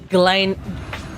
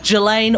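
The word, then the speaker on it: Ghislaine: name jizz lane maxwell i don't think that's the right way to pronounce her name i think it's galen gillane or galen maxwell uh there's a reporter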